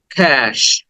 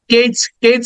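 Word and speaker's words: cash: then next word is ক্যাশ এখানে আমরা কেচ বলে অনেকে হয়তো বলে থাকো কেচ না ক্যাশ ক দেন এ সাউন্ড এরপরে সউন্ড ক্যাশ ক্যাশ ক্যাশ then next word is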